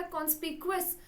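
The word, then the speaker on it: conspicuous: इस वर्ड को बोलते हैं बेटा कॉन्स्पिक्वस।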